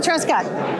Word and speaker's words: Truscott: All right, so here at the athletes meet and greet with one of the superstars stars, fitness chicks, 𝗬𝗫cie Truscott.